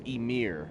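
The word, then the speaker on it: Ymir: with a modest offering his name is imir but it's spelled like yamir like the frost giant from Norse mythology that's cool whole Laden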